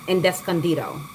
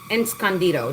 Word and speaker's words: Escondido: I remember exactly what they look like in Descandido. Escondido. That's how you pronounce it.